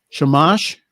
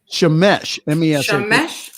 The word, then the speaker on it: shamash: that's awesome and again forgive me if i mispronounce this the the middle candle is the shamash shamash shamesh yes mesh that a rabbi from my area